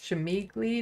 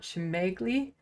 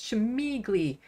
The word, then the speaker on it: Shemigli: BKK, wait, it's pronounced Shemigli, not Shemegli? Yes, I got corrected once after calling them Shemegli for almost the entire time. Turns out it's Shemigli.